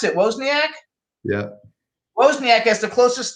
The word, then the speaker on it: Wozniak: How do you pronounce it? Wozniak?